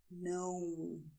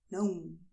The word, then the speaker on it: não: Sim, não. Both are very nasal, okay? Sim, não.